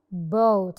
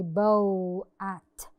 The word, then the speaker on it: boat: When the O is followed by A، لما بيجي ورا حرف ال O A، بنعمل الصوت الطويل بتاع ال O وال A مش بننطقها. boat. I don't say bow at. No, boat.